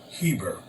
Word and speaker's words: Heber: 249 the hebrews are called after heber pronounced eber their great father from